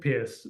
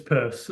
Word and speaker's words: Peirce: is pronunciation again um you read his name and you think Pierce it's purse um I wish it